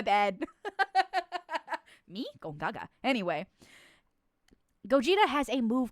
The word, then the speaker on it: Gogeta: How do you say Gogeta?